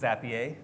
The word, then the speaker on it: Zapier: How do you pronounce the company name? I've gone all the way from Zapier for the Canadians, Zapier in here, or French folks. Oh. It is Zapier, and the easiest way to remember it, Wade had to